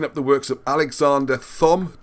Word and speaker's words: Thom: If you look at, I'd highly, highly recommend looking up the works of Alexander Thom, T-H-O-M. I know it said Tom, but if you say Thom, you remember how to spell it.